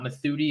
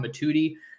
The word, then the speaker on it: Mothudi: the other night that I wasn't pronouncing it right it's not mathuti it's Kamar matuti he's from Valley Village